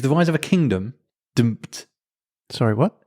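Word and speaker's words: D'mt: Dumped. Sorry, what? It's dumped. It's spelled, I had to Google this to pronounce it, D''MT.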